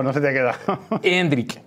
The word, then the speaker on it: Endrick: se te ha quedado hendri hendri ves vale acento y tilde en la e y acab nosotros que